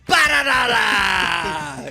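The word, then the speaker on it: Perenara: Okay, how do you pronounce the New Zealand number 9's name? Paranara! TJ Paranara.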